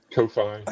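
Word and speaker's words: Ko-fi: something like that and for for for Kofi coffee however you pronounce that as well. So yeah, Kofi is how I pronounce it.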